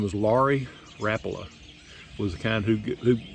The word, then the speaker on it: Rapala: I kind of like rapas and it is Rapa it's not Rapala it's Rapa Rapa is the way the man pronounces his name so I'm think he